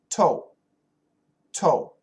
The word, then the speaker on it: toe: What's the difference in pronunciation between T-O-Y and T-O-E? Listen carefully. Toy, toy, toe, toe.